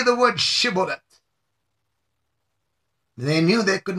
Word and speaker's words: Shibboleth: the man answered he would say Cibola instead of Shibboleth because he could not properly pronounce it then the gileadites tiptoes